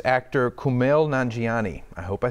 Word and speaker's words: Kumail Nanjiani: So it's actor Kumail Nanjiani.